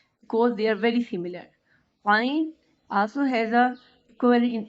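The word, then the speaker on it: عين: Ain is pronounced from middle of the throat. Ain. Ain is a soft and little round sound.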